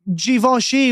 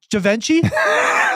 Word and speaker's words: Givenchy: This is like when you tried to tell me Givenchy was pronounced, what did you say it was? Givenchy? You dumb fuck. It's spelled Givenchy. He was like, yeah, it's pronounced Givenchy. I go, Givenchy? And he goes, call your mom right now. I think it's Givenchy, by the way. It's Givenchy. It's Givenchy. Givenchy is Givenchy. Enchy is Givenchy.